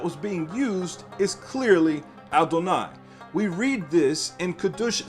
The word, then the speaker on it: Adonai: dalit noon yod or adonai and this is very clear so therefore again it says not as i am written am i pronounced i am written with